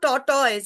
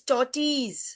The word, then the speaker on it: tortoise: It is not tortoise. It is tortoise.